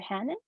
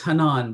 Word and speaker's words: Hanan: Hannon. Sorry, I don't know if I said, No, is no that correct? problem. No problem at all. It's Hanan, but Hanan.